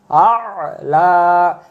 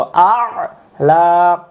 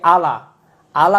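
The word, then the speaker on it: أعلى: দোয়া সুবহানা সুবহানা রব্বিয়াল আলা সেজদা তাসবির ভিতরে এটা খেয়াল রাখবো আ লা আর আমরা যদি বলি আলা আলা উচ্চারণ করলে এর উত্তর অর্থ ভুল হয়ে যাবে আ লা লা তো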